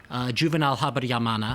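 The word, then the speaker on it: Juvénal Habyarimana: You're talking obviously about, when you say you told the president, you're talking about the former Hutu president of Rwanda, Juvenal Habyarimana. Yes. I perhaps pronounce his name wrong.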